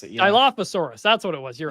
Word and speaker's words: Dilophosaurus: I don't know how you pronounce it. Yeah. Dilophosaurus.